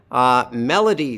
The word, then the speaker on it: Melody: Melody, 3 syllables. L is in the middle and it's unstressed. Melody. Like that.